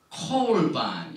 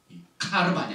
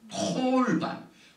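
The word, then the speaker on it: קָרְבָּן: 이게 보니까 야크리브 미캄 콜반 여기 이제 파타게 이렇게 나오는데 아로 발음은 거의 다 합니다. 카르반인데 특별히 이 쉐바가 그 다음 오면은 이걸 반드시 오로 발음해요. 카르반이 아닙니다.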